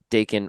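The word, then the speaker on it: Daken: you can have Laura Wolverine, you can have Dakin Wolverine, and that would look so. Do you say Dakin or Dakin?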